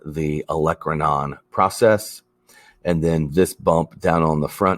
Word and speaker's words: olecranon: going to tuck in the back is the olecranon process and that word is pronounced olecranon and then right here this smooth rounded semicircle